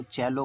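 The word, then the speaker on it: cello: जैसे सी E double L ओ को चैलो बोलते हैं, जबकि हम सुनते चले आ रहे थे सैलो सैलो।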